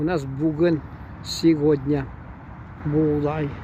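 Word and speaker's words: buğday: Будай. У нас будай, у них будай. Г пишется, но будай. Так же как далар. Г пишется, но почти не звучит.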